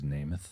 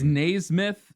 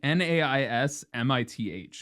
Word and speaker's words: Naismith: Their name is Namath. Naismith. Namath. Thou Namath. I want to know how to pronounce it because I always screwed this up. Yeah, you have a master's degree. It's Naismith. It's like Naismith.